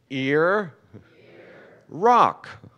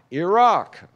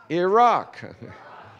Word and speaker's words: Iraq: me to distraction that these two countries are each just two syllables and most Americans mispronounce both of them so if you would repeat after me ear Ron Iran Iran now a good ear Rock Iraq Iraq okay so your job